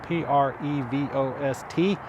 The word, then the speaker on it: Prevost: to bottom research the prevost bus p-r-e-v-o-s-t the st is silent prevost it's a french company a lot of great